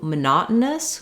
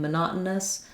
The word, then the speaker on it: monotonous: lots of O's in monotonous um now we're going to be stressing on the second syllable so that's where our